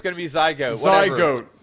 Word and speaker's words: zygote: that's Yeah, he didn't say No, he said Zygote. See, he pronounced it goat. So it's not go t is go a t. All right. It's going to be zygote. Zy goat.